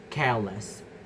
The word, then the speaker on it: careless: Same with the word careless, with the base care and the derived careless. Also in the dark, in the darkness. So the stress remains still in the first syllable.